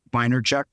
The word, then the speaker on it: Vaynerchuk: If there's human beings out there, so let's see, Gary, I'm going to pronounce his name, Robert Vaynerchuk.